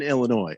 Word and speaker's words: Illinois: to remind us that the s is silent in illinois i know that i